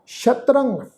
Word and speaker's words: शत्रंग: उच्चारण करांगे मित्रंग तजंत शत्रंग ससे पैर बिंदी लगा के पाठ क्योंकि असल शब्द है शत्रु वैरी मित्रंग तजंत शत्रंग